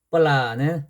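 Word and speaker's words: ปลา: 그 다음에 종자음으로 올 때는 비읍 발음. 그리고 뻘라는 생선이에요.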